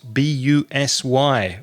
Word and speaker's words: busy: confusing vowel sound is bu s Y which is e so it's busy I'm very busy I'm